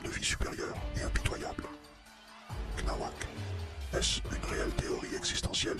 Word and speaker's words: cnawak: la prononciation, c'est vrai que j'avais dit, tu vois, que sur Twitter, j'avais dit oui, Senawak, en fait, c'est Knawak, en référence à Cthulhu, tu vois, le dieu